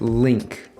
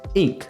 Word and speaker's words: Link: actually been bothering me my name isn't link it's ink the L is silent like the first l in llama but the second L